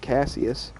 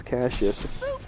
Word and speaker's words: Cassius: think it was like Casius excited I'm horrible as pronouncing names like that I just think it was Casius and then I just heard him say the name and the DLC is Cassius and I was like